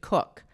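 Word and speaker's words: Coke: Now, in 1849, there was a wealthy landowner also in England, and his last name was C O K, but he pronounced it Cook.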